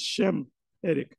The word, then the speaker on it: Semitic: Well, how can we be anti-Semitic when we're Shemetic ourselves and the way to pronounce it is correct way to pronounce it is Shemetic.